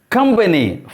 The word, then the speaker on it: company: syllable develop second syllable company first syllable if you want to